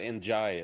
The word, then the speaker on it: Njie: So, it's Enjoy.